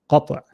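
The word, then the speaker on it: قطع: The name of this is called Hamzatul Qat'. Qat'. Qaf, ta, ayn. Qat'.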